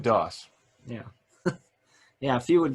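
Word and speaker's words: Dauss: yeah looks like it's hook's daws or dos how is that pronounced das i believe dos yeah yeah if you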